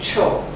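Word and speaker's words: Chhouk: And you spell it, you pronounce it Cho. Choke.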